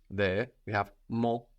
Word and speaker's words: mon: l there we have mo mo with a silent n but Moni my friend